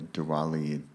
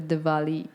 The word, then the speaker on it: Diwali: just the other night at the at the Diwali am I saying it right yeah ceremony yes